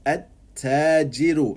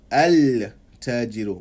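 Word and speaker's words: التاجر: It becomes at-tajiru and not al-tajiru. We don't say the lam, we say at-tajiru.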